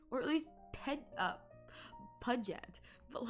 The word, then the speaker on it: Puget: That is the curse of, listen, it's Puget. P-U-G-E-T, Puget. If they wanted it to be Puget, they should have named it P-U-J-E-T. That's Puget. Or at least Puget.